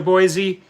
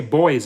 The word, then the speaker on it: Boise: Boise stay safe and I was used to pronounce Boise and correctly out I used to say boys in the field say what that what the hell are you talking about boys what's boys and there's there's no